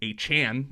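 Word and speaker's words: Achane: and Devin a Chan a Chan that's how you pronounce it per Devin himself put up nearly 100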